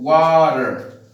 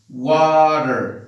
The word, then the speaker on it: water: For example, the word water. Now over here, you have the T in the middle, like Peter, and you have to pronounce with the sounds R. For example, water, water. Now over here, you see, water, Peter, water.